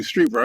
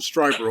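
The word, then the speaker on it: Strieber: whitley willie thank you streetwear i want to call him striper all the time but that's not right it's okay and one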